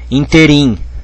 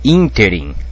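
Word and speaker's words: ínterim: Porque tem gente que fala interim, né? Mas não é interim, é interim. Interimento aqui é próparoxítona, OK?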